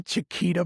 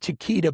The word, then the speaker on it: Chiquita: It kind of rhymes with Shakira. Yeah. So this is all the Chiquita Banana Company.